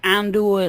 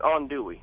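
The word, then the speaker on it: andouille: nice yeah do you like Ando sausage oh come on now you got to go there oh I'm sorry are you a vegetarian I apologize well no it's actually it's on Dey oh I said it wrong on Dey thank you ony there you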